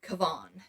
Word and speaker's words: Kavan: by the name of kavan it's spelled like Kevin but it's kavan anyways um he was